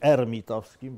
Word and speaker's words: hermitowskim: Ta operacja transsprzężenia nazywa się też sprzężeniem hermitowskim. Może powinienem mówić hermitowskim, bo Francuzi nie wymawiają H, ale już nie bądźmy takimi purystami.